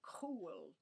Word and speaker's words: chul: And it's the word chul, or Chuwl, cool. Believe it's a hard C.